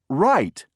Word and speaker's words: right: g n did you Circle G number five right right r i g h t did you